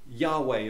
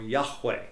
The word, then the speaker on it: Yahweh: name above all names probably Yahweh or Yahweh is the pronunciation of the name of God that probably hasn't ever been lost I'll just say that again probably we in the West don't use the guttural sound so Yahweh but more than likely